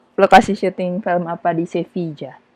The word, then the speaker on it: Sevilla: Ada yang tahu nggak lokasi syuting film apa di Sevilla? Dibacanya Sevilla ya, bukannya Sevilla ya? Jadi kalau misalnya orang Spanyol itu bilangnya kalau nggak Sevilla atau Sevilla. Oke. Tergantung aksennya dari lokasi di mana kita tinggal.